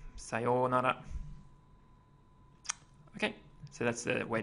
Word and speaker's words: sayonara: Okay, it's got a pretty particular pronunciation. It's a long O sound here. So sayonara, sayonara.